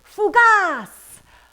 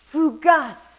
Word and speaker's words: fougasse: dish today we're making fugas or rather pronounced in french as fugus or something like that what is fugas fugas